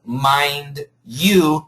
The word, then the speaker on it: mind you: Can anybody give me another expression instead of mind you? The pronunciation mind you in American pronunciation this D and Y combine for a J sound.